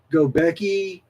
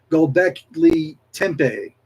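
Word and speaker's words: Göbekli Tepe: Prime and others of their kind are responsible for Gobeki. No, I'm mispronouncing this. Gobekli. Christopher's laughing at me, I'm sure. Gobekli Tepe, Stonehenge, and the dolmens across the world.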